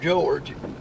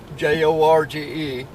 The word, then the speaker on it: Jorge: I spell it like Jorge, but people calls him George. The way we spell it is Jorge, which in Spanish is Jorge.